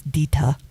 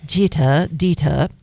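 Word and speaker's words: Deter: It's spelled D-E-T-E-R, so I'm thinking it's Dita. As in Jita? Yes, Dita.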